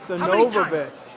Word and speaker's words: Sonovovich: Sonovovich. You're not the first person to mispronounce it, but keep it up and you might be the last.